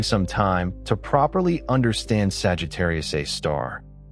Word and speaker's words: Sagittarius A*: Sagittarius a star. The asterisk is conventionally pronounced a star and the unusual naming